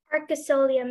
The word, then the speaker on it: arcosolium: Arcosolium, may I have all the information? Yeah, the only pronunciation is arcosolium.